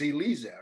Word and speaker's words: Elisia: Your first name is pronounced, I know how it's pronounced, it's Elisia, right? Elisia.